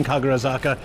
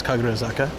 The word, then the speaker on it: Kagurazaka: right, let's go straight down to the main Kagurazaka. From the bottom, it looks really cool to look up. Oysters equals vibri vibrio. What is that? Kaguraka. Yeah, Am I saying it wrong? I think it's Kaguraka.